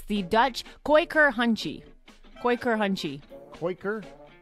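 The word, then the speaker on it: Kooikerhondje: It's the Dutch Quaker Hunchie. Quaker? It's spelt like I can't even describe.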